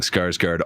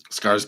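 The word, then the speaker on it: Skarsgård: oh no we are saying scars guard all wrong Scar Guard thank you for your correction closer to an O scar SC oh that's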